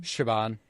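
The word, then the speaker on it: Siobhan: know um how do you how do you pronounce her name Shaban okay in the movie I I heard it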